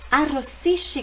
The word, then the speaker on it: arrossisci: Arrossisci. Olha aqui esse som de chi no italiano. É produzido pelo SCI. Então, tem SCI, é chi, arrossisci.